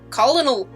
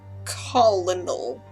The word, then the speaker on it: Colonel: Colonel, or as I always read it, Colonel, because English is you weird. You have to, like, check your brain in the back of your head, like, nope, that's not how that word is pronounced.